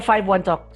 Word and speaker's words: 51Talk: Okay, it should be 51 Talk because in Chinese, it sounds like I talk. So in their language, it sounds like I talk. So it's 51 Talk.